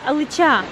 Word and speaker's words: алыча: А, алыча. На А ударение.